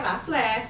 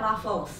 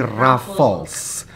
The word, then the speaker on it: Raffles: Sebenarnya, kebanyakan orang Indonesia mengatakan " Rough-less" karena sesuai dengan pengucapan kita. kita. BENAR. Namun secara internasional, tempat itu dikenal sebagai " Raffles." Raffles. Raffles, seperti yang Anda ucapkan "wafel." Omongan. Ya, R-A-F. Jadi, teman-teman, pengucapan yang benar untuk kata ini bukanlah "Rough-less," tetapi "Raffles." Seperti itu.